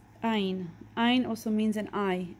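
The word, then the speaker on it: ע: It makes the sound of A and E. So back in the day, this used to be a lot more throaty, like ein. Not anymore. Now everybody pronounces it as like A or E.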